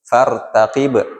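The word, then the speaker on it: فارتقب: Fartaqib yang betul fartaqib tadi enggak ada humnya ya.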